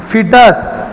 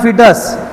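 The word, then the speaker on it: fetus: एम्ब्रियोच रूपांतर कशा झालं फिटस म्हणा फिटस स्पेलिंग फटस लिहायचं खर म्हणताना फिटस म्हणायचं कळलं का म्हणा कुठला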